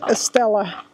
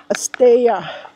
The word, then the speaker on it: Estella: It's not pronounced Estella. It's pronounced Estella.